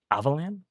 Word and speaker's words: Avalon: Avalan. I mean, I've said Avalan earlier, but that's how you say it.